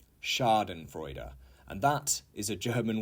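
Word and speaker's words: Schadenfreude: the key to watch the boats 30 is Sharden freuder Sharden freuder and that is a German word however we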